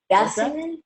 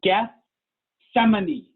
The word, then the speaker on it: Gethsemane: Gassaman? Gassaman? Good try. So that's it. Here's the thing. Adults don't know how to pronounce that either. So you're in good company. It's Gethsemane. Gethsemane.